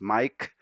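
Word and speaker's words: Maic: Yes, my name is spelled M-A-I-C and sounds as Mike.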